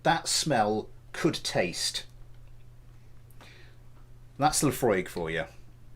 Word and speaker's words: Laphroaig: a second it is it is pronounced Laphroaig sorry so and bring